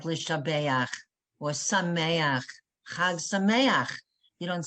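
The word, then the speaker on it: חג שמח: It's never cha, like lishabeach or sameach, chag sameach. You don't say hag samecha, hag sameach, because the ending looks like this. It ends in a chet and a patach.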